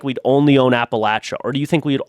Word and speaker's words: Appalachia: I know how it's from here. I'm from here. That's what it's called, man. It's Appalachia. That's the right way.